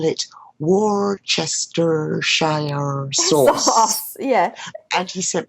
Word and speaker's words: Worcestershire: That's the one with the name that's nobody can pronounce. Yeah, like for us, it looks like Worcestershire or Worcestershire, and I don't think any Americans know how to pronounce it. We're just like that Worcestershire sauce.